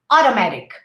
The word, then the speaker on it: automatic: to say automatic right we say oh and then we say audo in american english auto automatic automatic cause cause or because okay